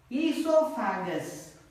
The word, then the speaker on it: esophagus: Second one is esophagus. Esophagus. Okay, O is silent.